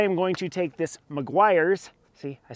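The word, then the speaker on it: Meguiar's: those but I am going to take this Maguire's see I said it right this time Maguire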